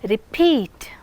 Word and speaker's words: repeat: Now, you listen to these words, repeat, peat. Which syllable is being emphasized? Peat. The second syllable is receiving stress.